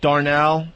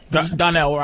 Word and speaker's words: Donnell: I went to see Bill Burr, Darnell. Is it Darnell? Donnell.